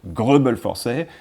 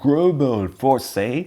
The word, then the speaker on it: Greubel Forsey: So in terms of pronunciation, well, I guess the truth lies slightly in the middle between the French way of saying it, Grobel Forsey, and a more English version, Grobel Forsey.